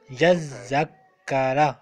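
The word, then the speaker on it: يذّكّر: Yazakara. So we should pronounce two zal and we should pronounce two kaf. Yazakara.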